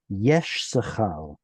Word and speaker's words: Issachar: He would pronounce it Yesh Sachal. So he would make this an SH sound and this an S sound, as in seen.